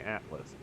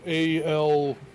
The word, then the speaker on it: Altus: way to the north is it altus i've been pronouncing it i've been saying atlas yeah it's a-l-t-u-s huh it's all the